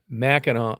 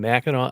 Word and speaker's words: Mackinac: Now, Mackinac Island is spelled m a c k i n a w. Mackinac Island is m a c k i n a c.